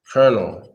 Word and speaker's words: colonel: mm-hmm call known cool colonel okay some the closest persons since we right here Hassan I think he got the closest colonel yeah not carnal but more like Colonel yeah Cornell I guess